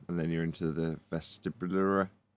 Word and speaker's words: vestibular: So 2 reference frames, an acceleration, and then you're into the vestibulary. How do you say it? Vestibulary. How'd you say it? Vestibular. Vestibular. I also Vestibular.